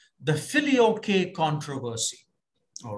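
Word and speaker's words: Filioque: of the theological issues is something called the Philly okay controversy all right in Latin the filio-k controversy or some people pronounce it as philio controversy whatever um what the Philly okay controversy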